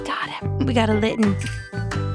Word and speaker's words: Litten: It's spelled just like kitten but but with an L. Okay. Kitten and it looks like a cat. I mean that makes sense then. I hate it though when certain words people like pronunciate like they over pronunciate. Hold on now. I'm trying to get a chest spin. What you mean if I said litten like instead of litten like kitten or kitten?